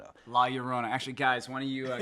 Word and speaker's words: La Llorona: What's the pronunciation? - It is The Curse of La Llorona. - La Llorona - La Llorona, actually, guys, why don't you kill it.